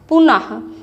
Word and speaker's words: पुनः: जैसे पुनः लिखा रहेगा, पुनः, तो पुनः का उच्चारण हम लोग करते हैं कैसे, इसमें जो विसर्ग है ये आह की तरह से, आह पुनः, है ना।